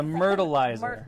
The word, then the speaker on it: Myrtleizer: The Myrtleizer. Myrtleizer. Myrtleizer. And it is like... Rhymes with turtleizer.